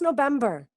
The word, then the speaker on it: November: Pero no es November, es V, vibrando, V. Piensa en Víctor, ¿ok?